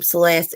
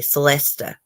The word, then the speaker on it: Celesta: The teachers would say, because my name, Celeste, it actually has an A at the end, but the A is silent. Most people spell Celeste Celeste. That's not how mine's spelled. Mine is Celesta, but the A is silent. But in school, they would call me Celesta. It is not Celesta.